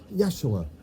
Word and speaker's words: Yeshua: Some people say Jesus but it's Yeshua or Yeshua.